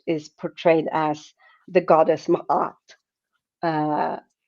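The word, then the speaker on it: Ma'at: in ancient Egypt is portrayed as the goddess Mahat. Uh it's spelled M A T Mat.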